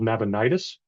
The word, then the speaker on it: Nabonidus: to NAB nabonidus um usually pronounced and spelled nabonidus one of the Babylonians